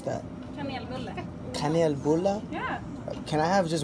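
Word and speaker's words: kanelbulle: espresso house and yes I got a it's pronounced con al Boulet and it's supposed to be very traditional here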